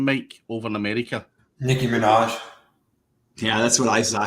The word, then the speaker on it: Nicki Minaj: How do you pronounce that name, Mike, over in America? Nicki Minaj.